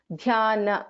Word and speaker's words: ध्यानगम्या: Yeah, and this na, this is na, not na. Dhyana, na. Okay. Na. ध्यान. Dhyana.